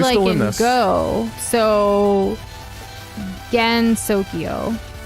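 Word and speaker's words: Gensokyo: So Gen Sokyo, not Gen.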